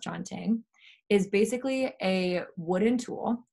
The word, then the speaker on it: canting: um so the chanting it's spelled like canting it's pronounced chanting is basically a wooden